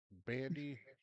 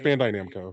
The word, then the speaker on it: Bandai: So, one day ago, Bandy Namako Entertainment, the ones that bring us uh